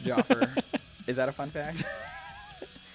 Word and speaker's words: Jafar: what's a fun fact it's spelled like Jafar from Aladdin but it's pronounced Jaffer is that a fun